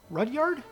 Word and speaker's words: Rudyard: first live-action remake was brother rudia hardest fruit rudyard that's how you pronounce it Rudyard Kipling's Jungle Book and no